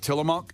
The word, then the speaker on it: Tillamook: Get that block of Tillamook cheese. Is that how you say that? Tillamook?